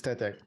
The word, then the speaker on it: Têtek: There's like soft E. It's this E with a hook over it, and it makes the T like softer, so it's Têtek.